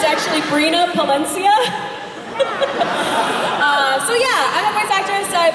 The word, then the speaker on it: Brina Palencia: voice actor for today's show minna points game butchered that much it's actually brina palencia so yeah I factors like jello in a